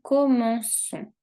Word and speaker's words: commençons: Je commence, tu commences, il commence, nous commençons. Aquí hay que usar la C cédille porque si no pronunciaría como con. Para mantener el sonido son, tengo que usar la cédille.